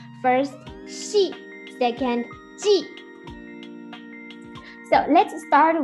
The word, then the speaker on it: 系: The third meaning of xi, for example, 联系 means contact.